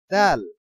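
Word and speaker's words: دال: হলো তা আচ্ছা এরপরে দাল দাল দাল দাল দালের উচ্চারণ আর দদের উচ্চারণ অনেকটা পার্থক্য কিন্তু উচ্চারণের স্থান ঠিক একই রকম দূরে মোটা দ দাল দাল একটু কলকলার মতন উচ্চারণ হবে কলকলার পাঁচটি হরফ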